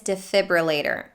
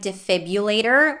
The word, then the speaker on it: defibrillator: for native speakers sometimes the next word is defibrillator and it's the same story with this one the r after the b might be dropped and substituted with the